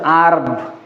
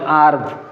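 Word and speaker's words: herb: এটা এটার উচ্চারণ হছে আরব বেসজ জাতীয় ঔষধ আরব এটার উচ্চারণ হারব নয় আরব এজন্য আর্টিকেল কি বসছে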